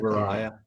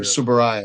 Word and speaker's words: Tsuburaya: It has special effects by, and I know I cannot pronounce this man's name, Eiji Tsuburaya. Subaraya. Thank you, Or, Tsuburaya. Yes, yeah, that TS stuff gets me.